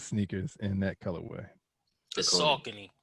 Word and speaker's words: Saucony: I don't know how you pronounce Saucony, but those sneakers in that colorway. The Saucony.